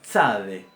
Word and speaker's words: tzade: Después tenemos la tzade. Tzade. Tzade. Este sonido básicamente lo vamos a transliterar como una TS y se puede entender y analizar perfectamente como una sucesión de una T con una S.